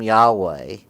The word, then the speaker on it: Yahweh: In some Old Testaments, you'll find it written as Jehovah. Now, that name resulted from a series of pronunciation changes through the history and is not how it ever sounded in ancient times.